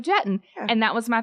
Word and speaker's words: Jetton: Yeah, and I just put underneath, I was like, it's Jatan, I did it phonetically as Jatan, it's Jetton, and that was it.